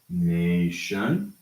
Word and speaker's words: nation: We have a round A, and we have a flat A. So we have nation or national. Okay? Nation and national.